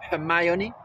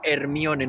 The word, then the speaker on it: Hermione: me quedo de ella ya sé que se llama mioni lo siento no lo pronunció del todo bien alguno me podrá decir es que no lo dices bien Bueno al menos no digo Hermione no lo leo literalmente vale Bueno vamos a